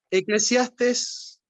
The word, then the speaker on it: Eclesiastés: Eclesiastés, con acento en la última va mostrando la experiencia de alguien que desea un montón de cosas, que nunca lo llenan.